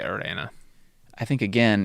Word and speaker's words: Irene: But yeah, I looked at his link, and it's how they say it in the episode. It's Irena Adler. Yeah. I guess I just don't know why Watson would say Irena.